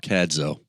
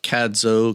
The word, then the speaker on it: Cadzow: Well, there's some debate about Cadzow, Cadzow. I mean, it's spelled C-A-D-Z-O-W, so...